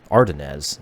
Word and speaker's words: Ardennes: And then from Thunderbolt, invitation to race in the Supercar Ardennes, that's how it's pronounced, Ardennes Club Day on the 10th of May.